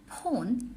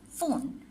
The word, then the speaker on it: phone: For this interference of the po, we often say pon instead of phone.